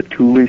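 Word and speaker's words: Thule: after World War I and I think something that that maybe Peter lenda did he mention the Tuli Society I believe so yes yeah okay um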